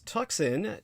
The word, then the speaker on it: Tucson: spell it as tuxen TS n put the word the in front of it the Tucson murders.